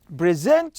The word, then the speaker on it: present: your ideas present okay the difference between these two we talk about it okay when you talk about uh uh the first syllable it means that it's a noun when it's the second one it means that you are talking about verb present your ideas how